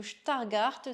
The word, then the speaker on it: Stargardt: Donc la maladie de Stargardt ou de Stargardt, si on veut bien le prononcer, c'est une dégénérescence maculaire.